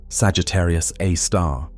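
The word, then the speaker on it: Sagittarius A*: Now, at the very core, at the precise center of the Milky Way's rotation, resides Sagittarius A, pronounced Sagittarius A star, the supermassive black hole of about 4 million times the mass of our Sun.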